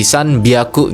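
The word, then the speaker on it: 三百: 300 itu bukan pakai Hiyaku, tapi dia pakainya biaku ya. Jadi H-nya ini kasih tank-tank jadi B gitu ya. Jadi san biaku gitu 300.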